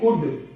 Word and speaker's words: could: इसी तरह से ये भी D से पहले है L, तो साइलेंट रहेगा COULD कुड।